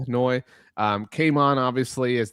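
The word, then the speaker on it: Ryan Flournoy: Um but um and and I think people are are sort of hip to him now, but Ryan Fenoi is pronounced Floyi.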